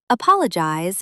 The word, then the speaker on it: apologize: Apologize is often stressed incorrectly. It's apologize. Stress on the second syllable, not the first.